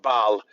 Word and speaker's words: Baal: You see the word ball behind it as the last syllable, ball. Tribal. But that is Baal.